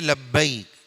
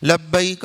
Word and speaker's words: لبیک: بعض لوگ بولتے ہیں لبیک, یہ غلط ہے. غلط کیا ہے, صحیح کیا ہے اس کو سنیے. لبیک غلط ہے, صحیح ہے لبیک.